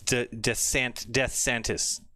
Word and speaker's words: DeSantis: It's DeSantis.